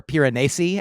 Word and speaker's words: Piranesi: I read Piranesi, or Piranesi, as it may be pronounced.